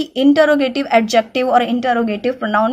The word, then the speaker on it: interrogative: का, वो पार्ट है इंटरोगेटिव एडजेक्टिव. ठीक है, सबसे पहली चीज कि हमें पता होना चाहिए इट्स नॉट इंटेरोगेटिव, इट्स इंटरोगेटिव adjective.